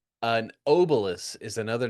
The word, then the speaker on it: obelus: Now, is it Okay, so how do you spell that? Is it obelus? obelus O B E L U S Okay, obelus.